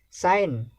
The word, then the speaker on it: sign: Sign, again G is silent.